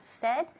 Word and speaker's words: said: Nunca decimos said. Said, no, wrong, incorrecto. Decimos said. Cuando dices tengo sed, igual. Said.